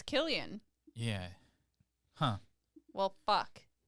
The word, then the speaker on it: Cillian: nest sound also wait many non-irish fans for some reason believe it's pronounced with an S sound but it's instead pronounced just like the anglicized spelling k ilian so it's Killian yeah huh well [